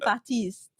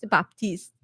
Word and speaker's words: Baptiste: I don't pronounce it Batiste. Batis. Haley has been pronouncing it. What she's Baptiste.